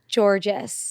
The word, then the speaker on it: Georgas: your host Caitlyn Bristo how do you say your last name georgees oh it's just that simple yeah okay well we